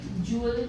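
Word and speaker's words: jewel: है ये जल थीफ इसको जल प्रोनाउंस करना है ज्वेल नहीं कहना ज्वेलर नहीं होता है। ज्वलर होता है। ज्वलर अजीब लगेगा सुनने में। But this is the right प्रोन्सिएशन।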